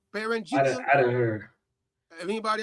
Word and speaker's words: Beringia: How do you say this word? It's Beringia. Anybody heard of that word Beringia before out there in the chat? Or is it Beringia? Beringia.